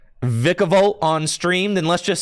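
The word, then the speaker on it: Vikavolt: It's, yeah, Vicavolt is the official Vicavolt pronunciation.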